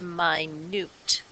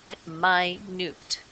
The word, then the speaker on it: minute: seeds are very minut this one means small and we pronounce it my noot this one is minute my noot so my newt means